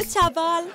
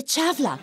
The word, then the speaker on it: تشافلا: مرحبا مدام تشافال. ما بتنقال تشافال، بتنقال تشافلا. تاء شين الف في لام.